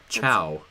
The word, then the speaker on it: ciao: Chow. Chow. C-I-A. Why is it spelled like that?